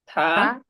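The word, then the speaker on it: 他: না দুইটা না কিন্তু বাট কি হচ্ছে উচ্চারণটা থা এটার অর্থ হচ্ছে হি এটার অর্থ হচ্ছেনটা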